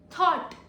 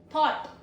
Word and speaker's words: thought: OUGH sounds like AW. Thought. AW. Thought.